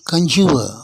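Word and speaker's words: conjure: confirm கான்ஃபார்மேஷன் பத்தாவது உதாரணம் கஞ்சுவ மன்றாடு கஞ்சுவ கஞ்சுவ கடைசில இருக்கிற ஆறுக்கு உச்சரிப்பு கிடையாது கஞ்சுவ கான்சுரேஷன் நவுனா வரும்போது அந்த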